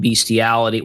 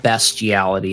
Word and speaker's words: bestiality: I just know that what you it used to be that you would put in beastiality. Well, actually it's called bestiality apparently.